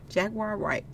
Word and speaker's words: Jaguar Wright: Jaguar White, that's how you say it.